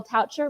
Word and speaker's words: Kyle Toucher: on the bottom is Kyle toucher rhymes with voucher um he is the